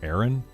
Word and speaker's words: Aaron: It's pronounced Aaron.